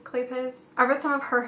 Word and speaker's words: Kleypas: some of Lisa Kleypas it's how you say her name clay paws Kleypas I read some of